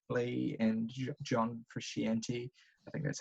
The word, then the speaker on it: Frusciante: records, like recognizable collaborators like Flea and John Frusciante. I think that's how you say his name. Frusciante. Yeah, Yeah. Frusciante, but Yeah. we can forgive the Kiwi for mispronouncing yeah.